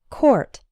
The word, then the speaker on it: court: Something similar happens with the word court. The OUR in court is pronounced or, same as in the words for, sport, and poor. Court.